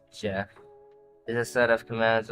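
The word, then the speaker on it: GEF: Uh GF pronounced Jeff is a set of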